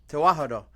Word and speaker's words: Tewahedo: And tewahedo or tiwahedo? How do you say it? Tawahedo? Tewahedo. What is tewahedo?